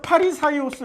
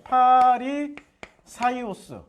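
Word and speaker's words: Φαρισαῖος: 구분이 곧 분리자아요 그래서 파리 사이오스 그래 파리 사이오스이 파리 사이오스 이게 헬라 발음이고 한문 발음으로 하면 바리새 바리새 한문 발음으로 우리는 바리새 부르잖아요 그러니까 바리새 사람들은 예수가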